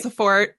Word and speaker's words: Branciforte: Branciforte.